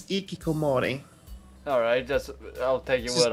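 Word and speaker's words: hikikomori: Because you're some sort of ikikimori, or however it's pronounced. Hikimori. Kimori. No, there are more syllables, I think. Western, or the Western equivalent of that, which is called a NEET. N-E-E-T. I could have sworn it was Hikimori just because it. I think it's ikikomori.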